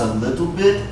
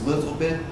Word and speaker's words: a little bit: we talked about this a little bit when you say it fast you don't even really pronounce the T sound okay you just hear